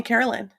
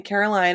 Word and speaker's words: Caroline: names are funny because my name is spelled caroline this is winedine caroline right but my parents call me carolyn you know so like the pronunciation was never right like the spelling was right and then i moved to england and everyone called me caroline and i corrected them at first and then